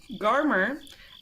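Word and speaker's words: Garmr: oh I didn't do pronunciation guide is garmer garma sure yeah garmer and is a fierce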